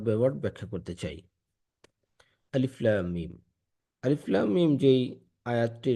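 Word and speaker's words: الم: আলিফ লাম মিম আলিফ আলাদাভাবে উচ্চারণ হচ্ছে। লাম আলাদাভাবে উচ্চারণ হচ্ছে। মিম আলাদাভাবে উচ্চারণ হচ্ছে। আলিফ লাম মিম এটার অর্থের ব্যাপারে আল্লাহ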